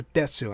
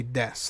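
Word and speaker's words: です: CU I don't know I hear female voices specifically pronounce the U in death whereas male voices will say death like female voices will say Desu uh male voices will more commonly say death and sort of drop the U or maybe that's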